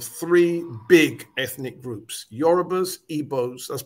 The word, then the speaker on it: Igbo: big ethnic groups yorubas eboz that's pronounced ebo even i know there's a g there please pronounce ebo europa's